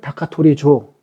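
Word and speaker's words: 高取町: 고취정을 다카토리조. 정.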